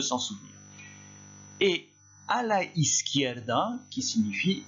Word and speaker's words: izquierda: En fait, vous prononcez is, ensuite qui, da. Is, qui, da. Izquierda, si on va un tout petit peu plus vite.